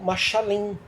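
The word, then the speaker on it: משלים: Parábola no hebraico, ela se escreve, se fala machal, no singular, e no plural machalim.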